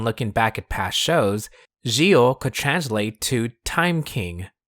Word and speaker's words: Zi-O: That's how his katakana reads, Gio, and as we'll hear later, it's pronounced that way too. If it was pronounced with a Z, then we'd have this katakana and not G.